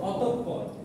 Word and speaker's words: অতঃপর: অতঃপর। বানানটা সঠিক হচ্ছে এটা, বানান সঠিক এটা, আর এই যে বিসর্গ আছে এটার জন্য উচ্চারণটা হবে এরকম, অতঃপর।